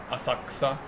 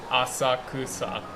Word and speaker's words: Asakusa: them how to pronounce Asaka Asaka and what the sound in Asaka is from because it's because if you were to pronounce it as it's written asakusa it would be wrong yeah yeah Jay now